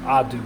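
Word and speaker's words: Adou: And Abdu Theoro is still out. Adu, I say his name wrong. There's no be there.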